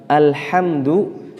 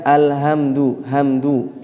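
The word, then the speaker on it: الحمد لله: adalah huruf H maka ketika membaca huruf H diusahakan harus kemudian sesuai harus kemudian sesuai dan sifatnya diberikan misalnya orang membaca Alhamdulillahirobbil alamin Alhamdulillah tidak boleh membacanya Alhamdulillah ini masuk ke H ya tidak masuk ke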